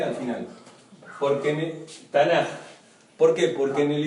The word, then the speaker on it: Tanakh: Tanakh, y se pronuncia Tanaj.